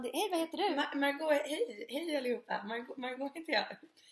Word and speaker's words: Margaux: Margot, hej allihopa. Margot heter jag. Stavas M-A-R-G-A-U-X. Dasha trodde jag att det hette Margaux i början. Men det är Margot som Bordeaux eller Chateau eller på eller på en sån så.